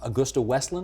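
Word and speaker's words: AgustaWestland: this Italian company you got the Choppers from Augusta wesland am I saying it right correct is that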